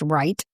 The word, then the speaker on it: Reith: gets it wrong, but my last name is actually pronounced right as in right hand.